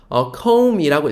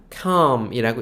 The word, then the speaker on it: come: come이라고 읽혀야 될 것 같아요. 오 장모음으로요. 근데 그거 아니고 그냥 come이라고 읽혀요.